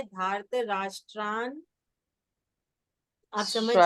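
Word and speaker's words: धार्तराष्ट्रान्: एक मिनट, एक मिनट, धार्त राष्ट्रान, क्योंकि ये आधा ना पहले पहले अक्षर के साथ जाएगा, तो उसका उच्चारण है धार्त राष्ट्रान।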